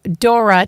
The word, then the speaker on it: Thora: our program we have Dora Tam that's pronounced with a d actually but spelled t h o r a Dora Tam from decorating Den Interiors Dora Welcome to our program